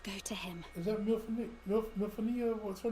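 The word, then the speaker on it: Minfilia: Is that Milfonia? What's her name? It looks like her. Mithilia.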